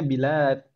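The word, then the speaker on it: بلاد: Jadi kalau lamnya panjang itu bacanya bilad. Bilad. Kalau lamnya pendek balad gitu, ya.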